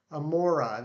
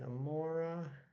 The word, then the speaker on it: Amaura: much for coming back amora that's how you say it i think that's how i say it too i just i